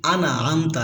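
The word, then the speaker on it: أَنْعَمْتَ: সিরাতাল্লাযীনা আনআমতা, এখানে আমরা অনেকেই বলি আনা আমতা, এখানে আনার ভিতরে আমরা অনেকেই কলকলা করে ফেলি, বারবার উচ্চারণের মতো শোনা যাচ্ছে, কিন্তু আমতা এটা ইজহারের হরফ, স্পষ্ট করে পড়তে হবে।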